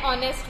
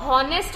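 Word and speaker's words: honest: इसको हावर नहीं बोलते हम और इसको हॉनेस्ट नहीं बोलते. ठीक है, इसका जो प्रोनाउंसिएशन है, एच को साइलेंट रखा है, इसलिए हम बोलने में ओ यू आर ही लेते हैं और ओ एन ई एस टी लेते हैं.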